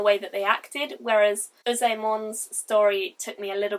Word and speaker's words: Uzaemon: Sorry if I'm getting these names really wrong, because I probably am, but Uzaemon, I believe is how you say it, maybe.